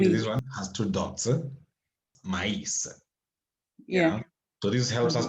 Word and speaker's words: maïs: Maïs. Yeah, oui. Beaucoup de maïs. J'ai mangé beaucoup de maïs. You remember we said this one has two dots. Maïs.